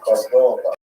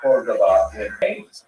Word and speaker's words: Cordova: You see modern edition, Tomer Devorah spell it simply like Cordova, like the city, Cordova.